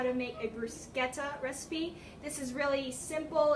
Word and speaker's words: bruschetta: So, like I said, today we're going to be making a bruschetta recipe. As per YouTube, that is how you pronounce it. It isn't bruschetta, or how my sister pronounces it, which is prosciutto.